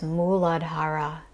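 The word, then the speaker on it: मूलाधार: for this first chakra is muladhara or sometimes muladhar which means root this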